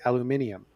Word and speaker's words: aluminium: Or as the British say, aluminium.